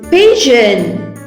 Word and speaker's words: pigeon: Next word is pigeon. P-I-G-E-O-N. Pigeon. In the word pigeon, G sound J. J. We are getting the soft G sound J.